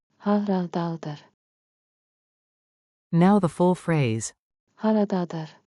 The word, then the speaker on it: Haradadır: Haradadır harita. Pronunciation beat. Clap with me. Rhythm makes memory sticky. Ha ra da dur. Ta ta ta ta. Haradadır.